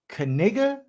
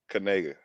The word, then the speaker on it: Knigga: His last name, I guess, it's pronounced Knigga, Knigga. Knigga, but that don't even make sense, dog. They making stuff up, dog. If it's Knigga, then that N should be a, not an I.